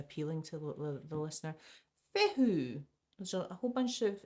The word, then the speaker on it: Fehu: Pronounced Fehu.